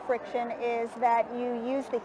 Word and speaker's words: Frixion: what is that word how do you pronounce that word friction friction oh my god and